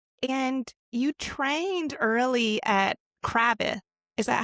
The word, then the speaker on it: Cravath: And you trained early at Cravath. Is that how you pronounce it? It's Cravath.